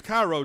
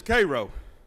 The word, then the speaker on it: Cairo: robinson was born in cairo georgia some people mispronounced it as cairo georgia but here in georgia is cairo he was the son of millie and jerry